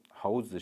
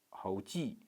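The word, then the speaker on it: 猴子: Well, should be 猴子, while the child pronounced like a 猴记, 记. And to pronounce the palatal instead of alveolar, 猴记.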